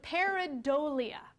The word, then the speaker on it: pareidolia: Pareidolia is how you pronounce it.